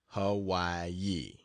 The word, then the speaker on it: Hawaii: again and then to the island of Hawaii pronounced Hawaii to see the greatest active volcano in the